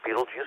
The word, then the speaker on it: Betelgeuse: The brighter one to the left, we've already talked about, Betelgeuse or Betelgeuse, that's how I pronounce it.